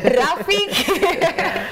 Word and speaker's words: Rafiki: Correct pronunciation is Rafiki. It's not about how it's written.